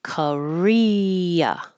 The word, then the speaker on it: Korea: Career, career with the stress on ear is similar to Korea. Korea. The American pronunciation changes the O and the A to because they're not stressed.